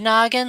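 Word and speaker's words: Gnoggin: And that's what the YouTuber with the name Noggin, it's spelled like good Noggin, like G N O G G I N.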